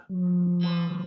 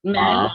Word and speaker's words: ma'am: How do you say this word? Mom. Mom. Mom, no, mom, no. Mom. Mom. Mom. Ma'am. Yes, mom. That's correct. Yes, ma'am. Yeah, that's Yes, correct. ma'am. You say ma'am, ma'am.